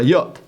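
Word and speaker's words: יוד: Es una palabra, se pronuncia como la Y, la palabra yom, es la palabra yod. Es la letra, perdonadme, no la palabra, la letra yod.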